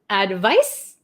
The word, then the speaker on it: advice: One more time, pronunciation. Advice, advise.